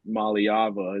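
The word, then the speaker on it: Iamaleava: know Nico uh yeah malava is how you say his name is a stud and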